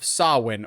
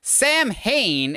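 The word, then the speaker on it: Samhain: worships and follows the ritual of sawwin or Sam Hayne if you're Donald Pleasence and don't know how to properly pronounce the word which actually saw one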